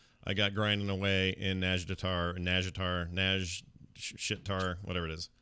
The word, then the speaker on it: Nazjatar: ladies say it, and they do pronounce the J, but extremely quickly and more quickly than I can make my mouth work. Yeah. So they do say like a Nazjatar, yeah, but I can't do that.